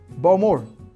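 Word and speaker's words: Bowmore: लफ्रोइग eighth is बालवेनी बालवेनी बाल्वनी ninth बोमोर बोमोर 10थ टैलकर टालकर 11th clean मोरंजी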